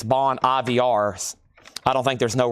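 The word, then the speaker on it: Bon Iver: It spelled like Ivor. Like I always call it Bon Ivor, but evidently it's Bon IVRs.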